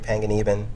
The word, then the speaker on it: Panganiban: Me, Nicole Zuckerman, Rick Panganiban. That's how you pronounce his name.